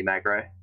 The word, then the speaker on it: Magro: Just like aggro, but with an M.